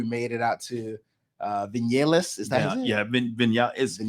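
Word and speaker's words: Viñales: vignellis is that yeah it has actually spelled v-i-n-a-l-e-s okay so but they they you know they pronounced uh the v as a b so it's like you know here in the states we're going to call it vignales yeah yeah we are Americanized right right folks say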